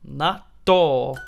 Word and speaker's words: natto: have fermented soybeans it's natto uh so the letters here are chi and su yeah yeah that's the puts the stress on the following continent yeah that's the way